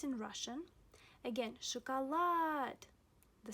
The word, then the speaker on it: шоколад: Again, шоколад.